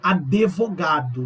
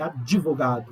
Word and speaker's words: advogado: Muitas palavras falam advogado. Não, é advogado.